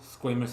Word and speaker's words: squamous: squamous. So your skin is keratinized, stratified squamous epithelium. I said it wrong. Squamous, not squamous.